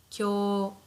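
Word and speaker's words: きょう: Kyo. Kyo. because this is a contracted sound, kyo, kyo plus u, so it's prolonged.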